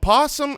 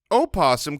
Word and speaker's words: opossum: hold on hold on opossum can be pronounced with the syllable voiced or silent so the actual animal